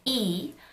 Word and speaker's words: 이: you ever wondered why the surname E which is the second most common surname in Korea is romanized as l ee with an L when there is clearly no Lea or L sound in the name I've been wondering that